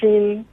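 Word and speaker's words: 心: if you look at the Chinese character for hearts pronounced XI if you look at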